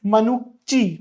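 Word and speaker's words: Manucci: फिर हमें देखने को मिलते हैं कुछ ट्रेवलर्स, जैसे कि एक इटालियन डॉक्टर थे मनुच्ची, मनुच्ची इसका प्रोनाउंसिएशन था, मनुच्ची था इसका प्रोनाउंसिएशन, मनुच्ची, जो कि यूरोप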